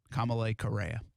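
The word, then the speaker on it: Kamalei Correa: us kamalay correa that's how you say it kamalay correa kamalay correa yeah yep uh and isn't is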